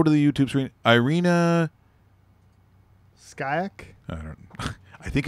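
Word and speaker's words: Shayk: Skyak? I don't know. I think it's pronounced skank.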